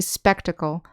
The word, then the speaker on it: spectacle: Notice that when we say spectacle, the accent is on the first syllable, spectacle. And the adjective form and the adverb form, the accent is on the second syllable, spectacular, spectacularly.